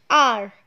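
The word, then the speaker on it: hour: Now again, children, the spelling is starting with a consonant H, but when we are pronouncing this word, it is giving the sound of a vowel, R, O ka sound.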